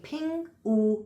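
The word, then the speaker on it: 丙午: pronounced oo and sorry, the fire is pronounced ping and the horse is pronounced oo. So, when we're saying this in Chinese, we're having a ping oo year.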